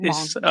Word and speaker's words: Hmong: The H is silent, so Hmong. Okay, so the Hmong community.